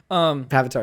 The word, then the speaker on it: Pavitr: Oh, actually, before we talk about Pavitr, Pavitr, that's it. I'm going to say that. Indian that's not Spider-Man. how you say it by like saying it that way, because like Indian Avatar with a P.